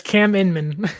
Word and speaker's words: Cam Inman: Cam Inman. That's how you pronounce it, right? Inman? Yes, Cam Inman.